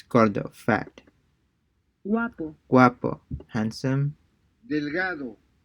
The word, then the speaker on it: delgado: delgado, Yeah, this is also the hard G.